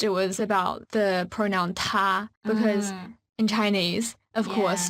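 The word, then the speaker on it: 他: it's the same because both he and she are pronounced like ta in Chinese is the same and transance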